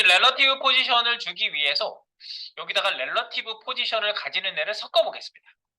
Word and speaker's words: relative: 너무 좋아하는 거 같아 릴레이션 관계가 있는 거 릴레이티브라고 발음하시는 분 정말 많은데 아니에요 그래서 뭐 어쨌든 뭐 릴레이티브라고 하든 뭐 이거 잘 아시면 돼요 2번 타이틀 바꿉니다 2번 자 우리 레너티브 포지션을 주기 위해서 여기다가 렐러티브 포지션을 가지는 애를 섞어 보겠습니다 아까 html로 가세요